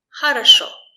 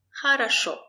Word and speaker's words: хорошо: Хорошо. Хорошо. The stress is on шо.